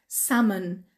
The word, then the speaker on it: salmon: کلمه دومی که یاد گرفتیم تلفظشو هست salmon. Salmon و گفتیم ل تلفظ نمیشه.